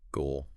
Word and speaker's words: goal: It is a long O sound, but it glides into the L. Ooh. Ooh. Your mouth should make a round circle for the O and then your tongue touches the roof of your mouth for the L.